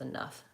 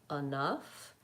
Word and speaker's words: enough: beginning of that word the stress is on the second syllable so the most important thing about enough is that you're stretching the nuff and that first syllable is reduced and short so you might use